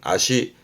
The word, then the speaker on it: 脚: 발음은 아시.